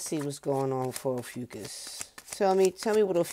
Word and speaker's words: Ophiuchus: store for ucus to I've been calling it officious for the longest time not for nothing uh I think oisha sounds better but that's not how you say it it's ucus so if you're born at